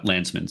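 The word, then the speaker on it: Landsman: Congressman Landman, thank you for for joining us. Uh Lansman, sorry, mispronounced that.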